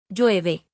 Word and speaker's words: llueve: Llueve. That means it's raining. The double L makes the ya sound, just like in the word for key.